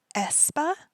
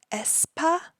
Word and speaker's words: aespa: as I said before this group is called espa Esa espa and their fandom is going to be pronounced the same way in English so it's